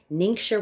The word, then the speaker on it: Ningxia: ningxia red I know don't be intimidated by pronouncing it mink sure red people call it ninja